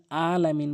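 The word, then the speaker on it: العالمين: লেভেলের ভুল করে রাব্বিল আলামিন বলে এই আইনের জায়গায় হামজা এনে উচ্চারণ করে আইনটি হলকের মাঝখান থেকে চাপ দিয়ে উচ্চারণ করতে হবে রাব্বিল আলামিন আলামিন আশা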